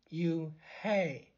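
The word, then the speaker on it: Unhei: no un hair corrected it's spelled u-n-h-e-i it's pronounced oh it's you hey the boy said like you hey what about hey you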